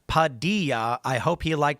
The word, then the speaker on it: Padilla: Bueno Malo says, "Padilla's name is pronounced Padilla.